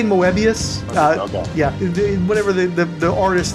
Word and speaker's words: Moebius: I say Moebius.